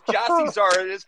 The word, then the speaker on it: Gyasi Zardes: You realize this is Gyasi Zardes.